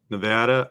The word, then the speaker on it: Nevada: say it right yeah always say apple Nevada okay yeah Nevada you have because I have a a friend from Nevada who says we have apples not apples at Nevada so it's not Nevada it's Nevada so um